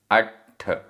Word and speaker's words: अट्ठ: अट्ठ, आधा ट और ठ, अट्ठ।